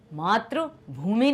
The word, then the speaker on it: मातृ: नहीं होना चाहिए, क्योंकि इसका जो उच्चारण भी अलग है। मात्र, आ साउंड आता है, त्र आ, ठीक है, जो साउंड आता है वो क्या है? आ। यहां पर मातृ ई, क्योंकि ये है ऋषि की मात्रा, आप देखते हैं